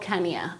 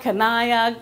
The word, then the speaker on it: Kanya: But people could not pronounce the name. They would say Kanya, Kanaya, Kanya, Kanye. Who knows?